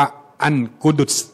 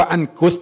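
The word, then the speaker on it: القدس: นำ ท่าน บอก ว่า เวลา เรียก เรียก คำ ว่า อัน กุดุ คำ นี้ คือ ออก เสียง ถูก ถูก ต้อง แต่ ถ้า เรียก ว่า อัน กุส เนี่ย อัน นี้ ผิด เลย นะ ครับ เพราะ ว่า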